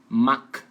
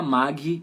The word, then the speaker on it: mag: verbo que tá aí a pronúncia é com g ou desculpa a pronúncia com som de k Então você escreve com g mas sua como k então é maca Ixi maca né Não vai falar Mag e colocar um uma vogal aí no final aí porque